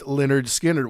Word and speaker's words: Lynyrd Skynyrd: We also did Lynyrd Skynyrd's first album, pronounced Lynyrd Skynyrd, which was chock full of hits, and darn near also had Sweet Home Alabama on it.